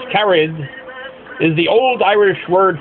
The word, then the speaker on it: Caraid: born in gallay M O'Brien her first name carad pronounced carried is the old Irish word for friends moved